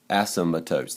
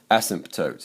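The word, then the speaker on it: asymptote: here's our Asim toes Asmat toes you know what I just mispronounced that ASM tootes it's not as toes there's one ASM toote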